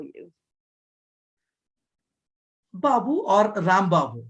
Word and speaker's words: Rambabu: Rambabu. Rambabu. Rambabu. Yes, Rambabu. Yeah, I have the pronunciation correct.